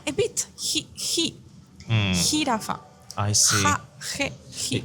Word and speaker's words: jirafa: So with the J, we say ha, he, hi, ho, hu. So okay. it's jirafa. Jirafa. Is it like a sound? A bit. Jirafa.